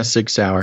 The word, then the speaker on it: Sig Sauer: don't know how to say this, Basil, the Sig Sauer? Yeah, Sig Sauer. Sig Sauer M400 rifle, which he purchased legally in March.